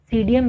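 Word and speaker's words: Psidium: है सीडीएम ग्वा वा सीडीएम में से पी साइलेंट है उसके बाद आता है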